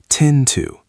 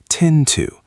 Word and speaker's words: tend to: Tend to tend to. Notice how the d and the t blend together slightly.